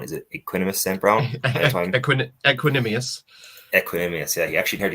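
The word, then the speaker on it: Equanimeous: Got on I can't even pronounce his first name. The St. Brown. Is it Equanimous St. Brown? Equanimous.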